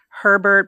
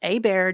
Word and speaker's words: Hebert: And it's spelled H Eert T and everybody pronounces it Herbert, but it actually phonetically would be Heert, right? But it is pronounced a bear just like a bear in the forest.